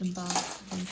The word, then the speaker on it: Isambard: Oh, I think I was calling him Isambard, and it's not. It's not how you pronounce it. It's Isambard.